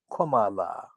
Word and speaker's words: Kamala: six-year-old har is's greatness exactly how to pronounce her name is comma followed by la commala by the time I